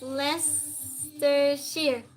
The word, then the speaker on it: Leicestershire: It's pronounced Leicestershire.